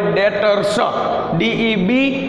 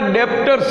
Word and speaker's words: debtors: देवादारो ने इंग्लिश में कहेवाय डेटर्स, DEBTORS, डेटर्स। घणा लोको आने डेप्टर्स के, बट डेप्टर्स ना कहेवाय, बी छे ते साइलेंट आवे छे एने डेटर्स कहेवाय।